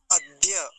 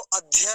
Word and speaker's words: अद्य: भिर ते भिर नो अद्य अद्य अब इसको अध्य नहीं बोलेंगे अध्य ऐसा नहीं अद्य केवल इतना उच्चारण होगा अगला शब्द देखिए सवि